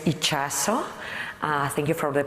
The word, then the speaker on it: Itxaso: it it's really growing my name is ichaso thank you for the